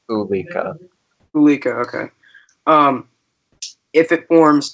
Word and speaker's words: Ulika: Central Pacific, it would be named Eureka or Eureka. I'm not entirely sure how the pronunciation is. Eureka, okay. If it forms east... It's not you, it's just Ulika.